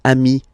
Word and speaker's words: amis: So singular form ami, plural form you add this S, but it's ami as well.